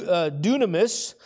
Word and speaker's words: Dunamis: that word power there I think this is how you say it do Dunamis which is I believe